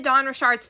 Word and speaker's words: Dawn Richard: And before we get into Dawn Richard's testimony, I have to show you guys how you actually pronounce her name, because if I get one